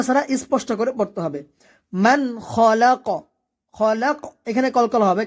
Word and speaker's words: من: ইয়ালামু ইয়া এখানে আইনের উচ্চারণ আমরা সবাই ভালোভাবে উচ্চারণ করব ইয়ালামু মান খলাক মান এখানে নুন সাকিন গুণনা হবে না কারণ এখানে